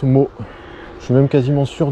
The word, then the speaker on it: Motz: région et a priori je pense que l'on prononce mot je suis même quasiment